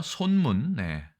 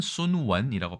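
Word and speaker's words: 孫文: 자, 중국어 손문, 그다음에 중국어로는 순원이라고 발음하죠. 중국 광동성 출신입니다.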